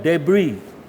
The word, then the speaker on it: debris: The city's burden of debris. S is silent.